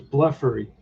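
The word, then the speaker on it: Blefary: Let's see if I can get his pronunciation here somewhere. I think it's Bleffery.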